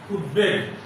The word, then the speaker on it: উদ্বেগ: আমি আবার বলছি, উপসর্গ যোগে গঠিত কোন শব্দে যদি ব ফলা থাকে তাহলে সেই বয়ের উচ্চারণ হবে না। যেমন উৎ যোগ বেল, উদ্বেল। উৎ যোগ বোধন, উদ্বোধন। উৎ যোগ বেগ, উদ্বেগ।